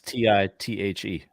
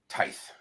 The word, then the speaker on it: tithe: How do you pronounce T-I-T-H-E? Tithe. Tithe, right?